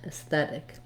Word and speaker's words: aesthetic: It has the red tent vowel, sounds like S, S. So just like the letter S, or you could write it this way, S. And then we have a voiceless TH sound in the stressed syllable. So that's the same TH we have in think and thought. And again, another red tent vowel, so thet, aesthet, aesthetic. When I use that T